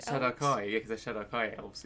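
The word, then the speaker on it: Shadar-kai: Light, as I think you how did you pronounce it? Shadowkai. Shadowkai, yeah, because they're Shadowkai elves, yeah.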